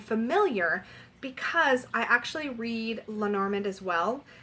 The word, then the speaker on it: Lenormand: because I actually read Lenormand as well I know it's properly pronounced Leonor Mon it's like a French term and I'm the worst